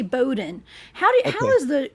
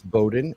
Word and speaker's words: Bowden: Now, some people say Bowden. What is the correct pronunciation of your last name? Both. Because if you're up north, it's Bowden, and if you're down south, it's Bowden.